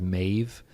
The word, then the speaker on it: Maeve: Or like Madison, our oldest, when she's scared, her middle name is Maeve, which rhymes with brave.